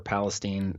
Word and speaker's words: Palestine: NASA balloon facility in Palestine Texas or Palestine is how they say it there and I got there